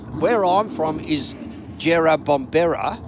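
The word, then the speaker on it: Jerrabomberra: Um, it's where I'm from is Jera Bombber and this is Jerab Bombra. So, you know, pretty close, but the same.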